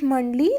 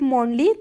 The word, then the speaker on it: Mondly: You can pronounce it as Mondly, like Monday to Mondly, and it is named because you can schedule your routine in it, and you can like schedule your language learning routine it. And you can also pronounce it like Monly, just like the difference is about British and American English.